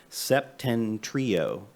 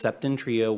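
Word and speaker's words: Septentrio: got two awards and i mispronounced their names all the time so i'm gonna try really hard septen trio i always misspell it my wife always corrects me um it's septon trio winery and also another place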